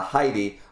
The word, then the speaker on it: Hide: hide hide and seek in japanese when it's a name i find a lot of them go hi d you know they they pronounce the e on the end so that's what i'm